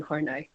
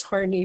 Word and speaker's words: Horney: social theory by karen hornai some pronounce it as horny but yeah that's it